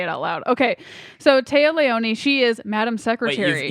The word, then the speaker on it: Téa Leoni: And then we have it's Taya Leone. Is that how you say her name? Yeah. I've never had to say it out loud. Okay, so Téa Leoni, she is Madam Secretary.